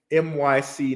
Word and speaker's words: MYC: Dion's channel for that my scene um I always say that say it wrong it's myc Network okay um so NYC